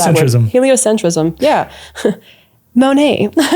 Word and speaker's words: heliocentrism: So, like honestly, like blame heliocentric centric Why can't I say heliocentricism? That's the first time I've never been able to pronounce that word. Heliocentrism.